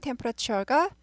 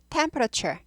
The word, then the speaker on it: temperature: temperature, 온도. temperature, temperature, temperature. 튀어 하지 않고 추어 발음 나죠. 국외음하라고 발음을 부드럽게 합니다. temperature 하지 않고 temperature. 트 발음이 치 발음이 납니다.